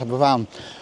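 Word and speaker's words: Aberfan: school in in Wales in a place called Abberan which is actually you want to Google it. It was actually it's actually spelled Aba Fan but it's it's pronounced Aban.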